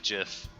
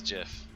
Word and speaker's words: GIF: and just discuss about why is it jiff and it is jiff oh look we already